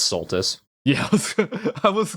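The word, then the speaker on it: Soltis: Wonder how many people are going to get angry at you that you keep calling it Solstice and that's Sulttus.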